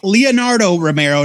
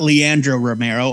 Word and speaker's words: Leonardo Romero: Thompson with art by Leonardo Romero not Leandro Romero I I've been saying